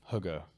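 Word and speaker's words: hygge: able to relax there's a uh a word Huga uh which is spelled h y g g uh that means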